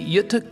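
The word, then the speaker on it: Göta: company and this fascinating Canal system the correct pronunciation is y Canal the Yuta Canal steamship company in Sweden has a long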